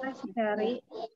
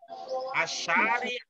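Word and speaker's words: الشارع: Alifnya syamsiah apa komariah? Al-syari. Asyari ila Bandung yaltawi. Nah, gitu jadinya.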